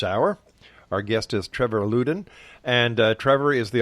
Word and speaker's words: Loudon: It's actually pronounced Loudon. Loudon.